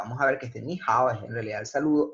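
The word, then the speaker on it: 你好: Entonces, esto no se pronuncia ni hao, sino realmente se pronuncia ni hao, o sea, el ni hay que pronunciarlo como un segundo tono.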